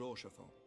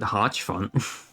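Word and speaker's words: Hauchefant: which reminds me Lord oron if you would be so kind that's how you say his name my God certainly I've been I've been thinking it was har fun in times such as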